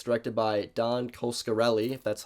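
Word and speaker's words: Coscarelli: stars bruce campbell and it's directed by don coskarelli that's how you say his name i talk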